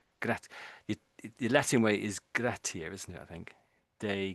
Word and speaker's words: gratia: Grat the Latin way is gratier, isn't it?